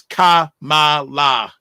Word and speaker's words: Kamala: black Americans good question the way to pronounce her name as Kamala and then finally Dr